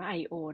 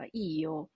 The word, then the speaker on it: io: ผู้ พูด นะ ฮะ อย่า อ่าน ว่า ไอโอ นะ ฮ อ่าน ว่า อิโย ผู้ พูด ที่ เป็น